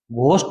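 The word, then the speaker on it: ghost: हैं क्या होते है अभ लोग इसमें एल साइलेंट है यह क्या है घोस्ट है घोस्ट है यह है भी घोस्ट घोस्ट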